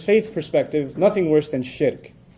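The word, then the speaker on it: shirk: Muslim from his faith perspective nothing worse than shik s h i r k sounds like Shrek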